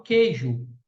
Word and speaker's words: queijo: duas palavras presta atenção a palavra queijo eu falo queijo ou queijo eu falo queijo u não é pronunciado então aí é dígrafo